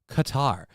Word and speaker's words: Qatar: and I don't think it's not cutter godamn it it's pronounced Qatar thank you Los federales